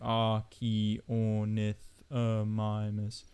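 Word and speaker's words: Archaeornithomimus: but if you've got archaeanethomimus not only has it got it broken down to r key or nyth mimers you can also hear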